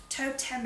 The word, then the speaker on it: Toteme: It's this one by the brand now, Toteme, I think is how you say it.